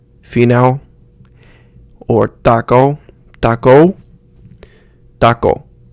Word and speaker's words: taco: ow sound fenale or taco taco taco it's like you're cutting it off so you don't use like taco in English where you get that W sound at the end you want to cut